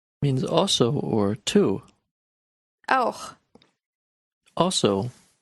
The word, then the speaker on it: auch: The next word is auch. Means also or to. Auch. Also. Be careful with the last sound of this word, the ch part. You will need to practice this a lot.